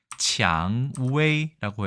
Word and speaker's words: 薔薇: 있습니다 좀 장자가 좀 다르게 생기긴 했지만요 간체자입니다 치앙웨이라고 해서 장미란 표현이 있는데 우리가 생각하는 그 장미